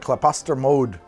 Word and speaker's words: Klaposter Mjod: All right, up next, we're gonna look at Klaposter Mode. That's how you pronounce that, Klaposter Mode.